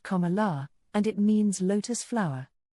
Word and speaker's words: Kamala: And a note on her name, Carmela is pronounced Kala, and it means lotus flower.